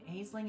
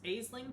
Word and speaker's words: Aisling: for now fun fact aisling can be pronounced Ashlyn I don't know if that's the proper pronunciation but it is heard that way a lot oh no thank you